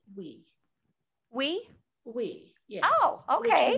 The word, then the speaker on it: Oui: And we really love, we decided that it's pronounced like the French word, oui.